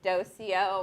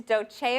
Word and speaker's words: Dolce: always get is well how do you say that a lot of people say dosia or you know I get dosey doe sometimes I don't know where that comes from it's Dolce oh and it means I